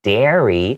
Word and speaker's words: dairy: Whereas here, when we're talking about milk, dairy, D-A, the A sound is a little bit more prominent. So it's D-A-I-R-Y.